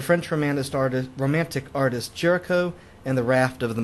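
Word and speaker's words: Géricault: name here is Jericho he's French so his name isn't pronounced the way that English readers want to pronounce it uh looks like Gult to English readers but um pronounced Jericho Jericho's raft of the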